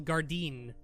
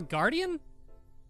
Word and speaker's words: guardian: nice no I'm a guardian just who was this doctor she's talking about hmm-hmm wait Paige what did you say that the doctor called you a royal guardian the pronunciations off it's Guardian that Guardian also refers